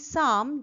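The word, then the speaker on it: psalm: syllable of certain short সাম পি এস এ এল এম উচ্চারণটি সাম যার পি আর এল silent এটির মানে প্রার্থনা সংগীত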